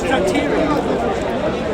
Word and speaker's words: Thyatira: and to the rest in I can't pronounce that. What does that say? It's Thyatira.